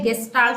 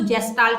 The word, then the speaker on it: गेस्टाल्ट: ठीक है, बिहेवियरिज्म के बाद जो नेक्स्ट स्कूल ऑफ साइकोलॉजी है वो है गेस्टाल्ट साइकोलॉजी, कुछ लोग इसको जेस्टाल्ट भी बोलते हैं, तो ये प्रोनाउंसिएशन का डिफरेंस है।